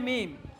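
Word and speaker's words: ميم: পাতলা উচ্চারণ, লাম। এরপরে মিম, মিম।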